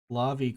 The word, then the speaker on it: Lavi: It's like lava, but with an E sound. Despite the fact it's an I, English is weird.